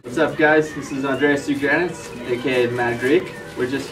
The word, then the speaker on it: Andreas Tsougrianis: Say your name so they all know how it's pronounced, number one. What's up, guys? This is Andreas Tsougrianis, aka Mad Greek.